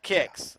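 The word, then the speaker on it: Qix: everybody said no no it's kicks so i'm like i said everybody in america as long as i've known has always called it kicks just k-i-c-k-s but if you break it down phonetically translate it from japanese it is spelled q-u-i-c-k-s and that is directly from taito so you can call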